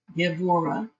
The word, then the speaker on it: Gevurah: This B is pronounced like a B, that much of Hebrew I know. Gevurah.